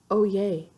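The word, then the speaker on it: Oyez: always means hear ye it's pronounced oh yay oopsies it's oh oh yeah oh yay i said it totally wrong everyone in the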